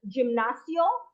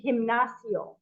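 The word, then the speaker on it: gimnasio: be a little tricky you said um gymnasio so we're going to actually change uh the pronunciation to himnas um the letter G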